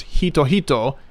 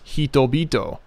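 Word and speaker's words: 人々: But then you have another problem, because it's not pronounced hito-hito, it's pronounced hito-bito. Being in the second position can change a consonant, and it becomes its voiced or dirtied version.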